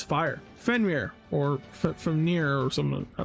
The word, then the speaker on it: Fenrir: When I think of Fenmir, Fenir, Fenmir, how do you pronounce it? I'm looking up. We're going to say Fenrir.